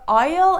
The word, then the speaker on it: isle: in these two words letter s has no function I don't know why they are in these words so be careful that these are Isle and Island I personally think that